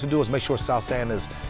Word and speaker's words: South San: all he wants to do is make sure sou sand is how you say well represented and he